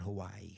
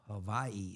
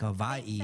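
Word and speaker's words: Hawaiʻi: you don't pronounce it Hawaii. How do you pronounce it? Seriously, when it's got the little it's Hawaii. It's like a V, like Hawaii.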